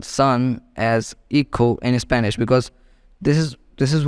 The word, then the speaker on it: hijo: So son in Spanish written as hijo, but it can be pronounced as IKHO, hijo.